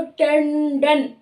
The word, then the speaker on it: टंडन: तो यानी इसका जो अनुस्वार है वो इसके स्थान पर लगा है, यानी इसका ड का उच्चारण स्थान मूर्धा है, तो इसका अनुस्वार का उच्चारण स्थान भी ण यानी मूर्धा ही होगा। तो टंडन, टंडन, इस तरह से मूर्धा साउंड को लेते हुए, टच करते हुए इसका अनुस्वार आएगा।